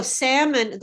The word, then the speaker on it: salmon: black yeah black okay so salmon the l is silent it's not a lot